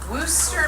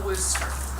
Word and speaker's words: Worcester: Now, how do you think you would spell Worcester? Worcester. No, keep quiet. Who else? How do you spell Worcester? WHOSTER. That would be a way that would be phonetically accurate.